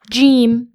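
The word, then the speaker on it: جيم: Our next letter is gimm. And this is considered a light letter and it's pronounced like the uh the the J in for example the word jam.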